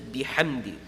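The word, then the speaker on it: بِحَمْدِ: Now with ha, if you overpronounce it, it's going to start sounding like a kha. Ha, ha, ha. You start overpronouncing it, it's going to start sounding a little bit like kha. Kha has a different makhraj.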